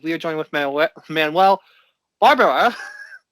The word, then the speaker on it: Barbara: We are joined with Manuel Barbara. With an accent on the A.